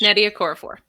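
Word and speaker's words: Nnedi Okorafor: is it is it pronounced is her name pronounced Neddy okorafor yes it's Neddy a car for you you worked with with or for on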